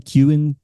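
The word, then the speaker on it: Keoghan: Kewen? That's how you pronounce it.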